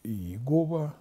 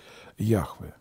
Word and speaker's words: Яхве: великой традиции не произносимая она транслируется в синодальной библии как иегова но более правильно транслитерация то все-таки яхве а бог по еврейской